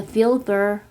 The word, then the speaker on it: Wilbur: paris shops it was called the vilber rate which is how french people were pronouncing his name wilbur put up with